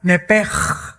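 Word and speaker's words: נפש: La palabra, la letra o las letras SH en el hebreo se pronuncian en hebreo como J. Entonces se pronuncia nepej.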